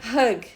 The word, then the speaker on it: hug: Isso porque tapete se pronuncia rug, que é R-U-G, e abraço é hug, H-U-G.